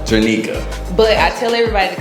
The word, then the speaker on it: Trinica: So my name is pronounced Trinica. Trinica.